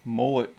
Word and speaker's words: MULIT: Alright, so we have our MULIT cart. That's how you're supposed to say it, even though it's not spelled like mullet on your head.